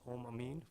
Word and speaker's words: Om Amin: Mr Amin could you state your full name spell it and your um where you live yes uh full name is om Amin first name om o m last name Amin